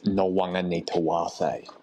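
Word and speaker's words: Nawaqanitawase: For the fifth time, Blocker, it's No Wonga Nita Wase.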